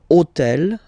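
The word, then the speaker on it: hôtel: So I took on purpose this hotel, okay? Because it starts with ash. But remember that in French we don't pronounce ash. Okay? So basically the first sound of the word is the vowel o.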